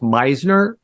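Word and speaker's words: Misner: I believe his last name is pronounced Meisner.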